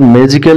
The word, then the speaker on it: magical: নম্বৰত কি কৈছে চোৱা Notice that the word magical is pronounced with more force in the first syllable.